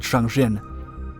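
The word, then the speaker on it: Jangjin: In its original language, the place is actually called Shanghin.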